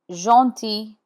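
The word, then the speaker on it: gentil: G has the sound when G is followed by E, by an I or a Y. Let's look at the first example. Jeanti means kind. Here the G is in front of E and the final L is not sounded.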